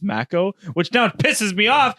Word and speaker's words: Mako: Like I said Mako for the longest time and it's Mako, which now pisses me off Yeah.